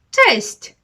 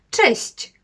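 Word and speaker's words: cześć: Кость так а Кость Так більш м'яко честь честь слово яке 100% Знає кожен з вас Але можливо не кожен вимовляє його правильно честь бачите чуєте в кінці щч с красковане то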